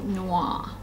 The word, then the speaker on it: Noir: Okay, so the first one is the Versace Crystal Noir. That's how you pronounce it. N-O-I-R.